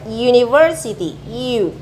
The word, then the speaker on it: university: Di sini ada university, U. Nah, ini pronunciation-nya seperti ini tulisannya. Jelas ini U. Kalau U tulisannya seperti ini, university. Jelas ini konsonan kan ya dalam bentuk pengucapan.